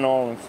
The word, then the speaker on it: New Orleans: I'm from right outside of New Orleans.